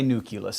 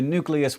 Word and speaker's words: nucleus: to switch over to nucleus which is after all how it's spelled and that is all